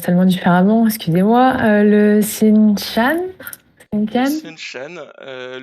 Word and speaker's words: Seanchan: Je vais dire, alors ça se prononce tellement différemment, excusez-moi, le Sinshan? Le Sinshan? Seanchan, c'est également une bonne réponse, tout à fait.